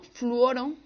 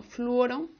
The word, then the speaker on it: fluoro: Entre ion es uno fluoro no se dice fluor sino fluoro y como cadena principal